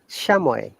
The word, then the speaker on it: chamois: Once again, Illinois, debris, shashi, shamoy. There is no S sound.